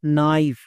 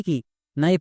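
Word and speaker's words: knife: না তাহলে কি হলো নাইফ নাইফ মানে কি নাইফ মানে হচ্ছে চাকু একে আমরা ভুল করেও কে নাইফ বা কোনাইফ এরকম উচ্চারণ করবো না কারণ এখানে কেটা সাইলেন্ট এবার কোন লেটার কখন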